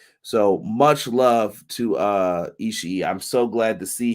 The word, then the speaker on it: Ishii: me on this because I used to say Ishii all the time, but we believe it is pronounced Ishii. So much love to Ishii.